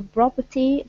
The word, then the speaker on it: property: Okay, so put the stress at the very very beginning.